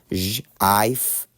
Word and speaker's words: GIF: So now you have J-I-F, Jif, the correct pronunciation.